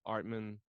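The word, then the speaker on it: Atman: Like just hearing about Brahman and Artman.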